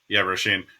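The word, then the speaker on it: Róisín: I'm watching, Rushin. Is that how you pronounce her name? Roshin, yeah. Roshin.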